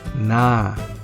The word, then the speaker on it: na: Ang pangalawang particle ay ang na. Minsan, binibigkas ito na may long vowel, na.